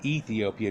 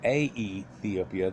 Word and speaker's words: Aethiopia: I went to Ethiopia right here of the Greeks, and so it's not Ethiopia, it's Aethiopia. That's the way they pronounced it.